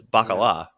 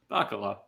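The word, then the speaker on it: baccalà: you put the um you put the emphasis on the wrong survival it's bakala baccala anyway people said aioli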